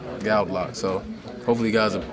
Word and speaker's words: Goudelock: even said nothing but how do you pronounce your name gal loock gal loock so hopefully you guys